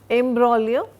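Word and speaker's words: imbroglio: Embraio G is silent. a violent and complicated quarrel. I got into the imbolio without any uh playing any an active role in it but I got dragged into it.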